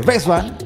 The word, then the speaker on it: Westbam: Si bien es West, por la pronunciación inglesa sería Bestman para la pronunciación alemana. Alemán. Si, hasta que veas el origen. He escuchado americanos que le dicen Westman, he escuchado gente de Alemania que dice Bestman.